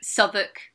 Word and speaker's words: Southwark: And I really only tend to feedback on proper nouns, like English place names, like Southwark, which Southwark, is actually Ah, pronounced yeah, Southwark.